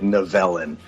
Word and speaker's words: Nivellen: Yeah, the beast's name is Nivellen, I believe, if I'm saying that right. He pronounced it Nivellen. Nivellen. Which is great because you're like 0 for 4 on the names, which I love. He gets that Nivellen is that's better.